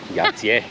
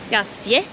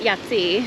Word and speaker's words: Jajce: Yati or yatier. We're going to figure out. I'm going to go with yatier. Yatier. Yati. Yatier. Yatier or yatier. Yatier. We're goat. No, not yatsi.